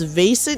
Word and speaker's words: Vaesen: The one that my friend has played, but I have not played, is Vesson. I think it's called Vaesen, actually. I think is how you pronounce it. It's Vaesen.